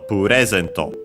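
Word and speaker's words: プレゼント: following noun, which is puresento. You can easily guess that it's actually simply from English present, as in present, gift or gift. The accent in standard Japanese is on the re, so puresento.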